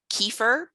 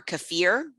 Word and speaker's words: kefir: with live active cultures something called kefir or kefir different people pronounce it different ways that is kind of